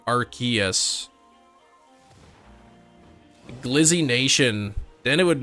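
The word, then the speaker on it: Arceus: know at least um archus is is official pronunciation the way it said pronunciation was changed cuz I think originally it was arus officially and then they changed it to archus Gizzy Nation then it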